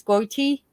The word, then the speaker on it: Gotye: Which hit song is this Aussie star and the name is Goiti best known for? I love this song. Land Down Under. His name is spelled Gotye. Gotye is his.